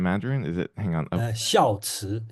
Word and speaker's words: 孝慈: Can someone pronounce it in Mandarin? Is it? Hang on. 孝慈, 孝慈.